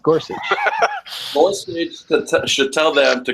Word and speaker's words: Gorsuch: Go suck or Gorsuch? Go suck. I like that. No, it's Gorsuch.